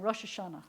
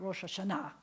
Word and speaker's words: Rosh Hashanah: probably grew up saying Rosh Hashana right not rosh hashanah right and rosh hashanah is the is the modern Sephardic pronunciation did you notice how